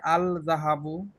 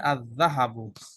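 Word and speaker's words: الذهب: হচ্ছে না হচ্ছে না কেউ যদি বলে আল যাহাবু তাহলে কি এটা কারেক্ট হবে নাকি ইনকারেক্ট ইনকারেক্ট ইনকারেক্ট লাম উচ্চারণ করা যাবে না পড়তে হবে আযাহাবু এরপরে নাম্বার ফাইভ র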